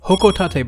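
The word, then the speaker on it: Hocotate: This item is pronounced as the Hokotate bomb using the Japanese-based pronunciation which we can hear echoed by Pelatina like this.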